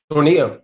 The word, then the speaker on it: Tornillo: Tornillo.